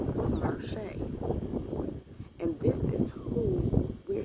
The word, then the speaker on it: Marche: it's pronounced, the only way that you can pronounce it, it was spelled Marshay.